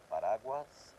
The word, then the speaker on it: paraguas: Paraguas, okay, that's the tricky one. That's not actually a dièresis using a word, paraguas, because it has an A sound.